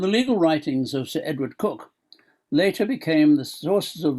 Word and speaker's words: Coke: 1592 to 1607 and sir edward cook pronounced cook not coke cook attorney general to